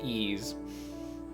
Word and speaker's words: Ys: Z's and we're doing the Y's which would be really clever except I know it's pronounced ease I think I made